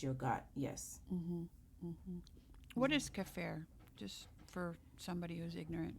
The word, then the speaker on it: kefir: What is cafir? Just for somebody who's ignorant and doesn't know, what is it? Oh, cafir is is it's a form of yogurt.